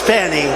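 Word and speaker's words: Fani: F A ni I it should be pronounced Fanny Fanny funny funny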